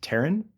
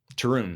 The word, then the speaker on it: Tarun: Is it Taryn Stevenson? Tarun. Yeah.